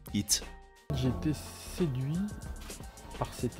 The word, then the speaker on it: HYT: Pour lui, la marque se prononce tout simplement HIT.